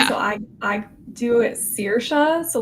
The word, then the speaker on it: Saoirse: quick just to help you out with the pronunciation. So I I do it sir. So like if you think about like searing a steak. Okay, that makes sense. Okay. Yeah, some people do say Cersa.